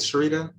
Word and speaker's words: Sharita: to go sure yeah am i pronouncing it sharita yes okay hi everyone i'm sharita i work on the